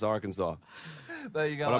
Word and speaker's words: Arkansas: And it is pronounced Arkansas.